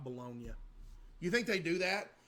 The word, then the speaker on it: Bologna: In Italy, bolognia, not pronounced bologn, is primarily there's a bologn Italy.